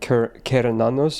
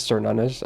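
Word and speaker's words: Cernunnos: but it's just Also, I think it's pronounced like Kernanos or something. But yeah, again, Celtic names is weird. So everyone says Cernunos, I myself included. But yeah, no, Cernunos is wrong.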